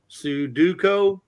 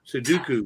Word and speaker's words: Sudoku: gonna go for it it says Sudoko no Sudoku Sudoku Sudoku Sudoku Sudoku Sudoku right let me let me make myself here I'll make you bigger make them bigger yeah Sudoku all right so this